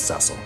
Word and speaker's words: Cecil: Cecil Ceil. Really? Ceil. There's been voice acting added since then. And the official pronunciation is Ceil.